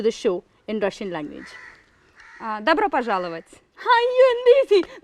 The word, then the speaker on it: Добро пожаловать: Добро пожаловать. അയ്യോ എന്ത് ഈസി. Добро пожаловать.